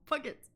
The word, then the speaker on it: Puget: It's a hard G now. Puget.